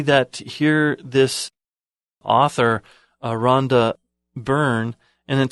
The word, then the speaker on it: Byrne: here this author Rhonda Byrne and then spelled bee why are any but it's pronounced like burn I've I'm not sure